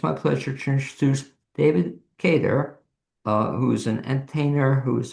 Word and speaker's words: Cater: And that and this David and I'm pronouncing it David Kedar. You you're spot on. unusually uh most people pronounce it Carter.